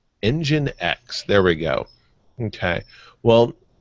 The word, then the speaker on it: nginx: going to ask you how do you pronounce this that though this web server you you said it the other day on the show and I couldn't quite remember how they pronounced their product nginx engine X there we go okay